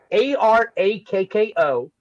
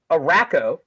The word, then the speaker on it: Arakko: Right, Now, I would say I used to call it Araco. right. That makes sense. But then with that pronunciation, you would call the people Iraqi.